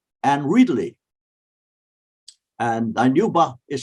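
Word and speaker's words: Reedley: still it's very active town uh dainuba and ridley and anuba is spelled u b d-i-n-u-b-a and ridley r e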